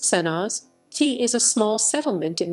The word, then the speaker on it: Senožete: senosite krsko senozik pronounced sennas ti is a small settlement in the hills west